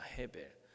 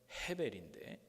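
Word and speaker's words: הֶבֶל: 자, 아벨이라는 이름이 뭔가 하면 아벨은 둘째인데 동생인데 아벨의 원래 그 히브리적 발음은 헤벨입니다. 헤벨. 영어는 에이블 그러는데 원래의 이름의 발음은 헤벨인데 이 헤벨이라는 말은 헛되다는 뜻입니다.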